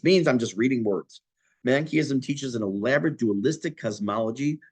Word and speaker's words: Manichaeism: It's pronounced Manichaeism.